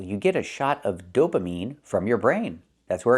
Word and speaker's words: dopamine: It's not dopamine. It's dopamine. I have to use the long e sound like green beans. Dopamine is the correct pronunciation.